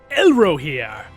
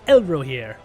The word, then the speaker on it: Elrohir: All right, so we have Elrohir. That is how you say it. It's a little bit tricky. Elrohir. Yes, it is. It's a very tricky one.